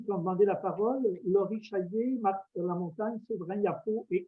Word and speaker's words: Chaillet: Alors, Laurie Chaillet, si je prononce bien votre nom de famille, j'espère, vous avez la parole. Oui, mon nom est bel et bien Laurie Chaillet.